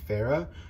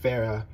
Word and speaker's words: Farah: of like right-hand man named farah who i'm not sure if i'm pronouncing that right but f-a-r-a-h and he's somalian so the somali pronunciation of that but with pharah he is the only